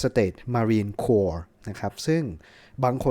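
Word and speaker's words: Corps: ว่า 4 แต่ ว่า มัน ไม่ ได้ อ่าน ว่า ครอป นะ ครับ มา ว่า โค เฉย ๆ นะ ครับ คือ มัน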